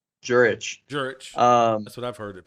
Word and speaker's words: Jurich: Tom Jurich? Jurich. That's what I've heard it pronounced.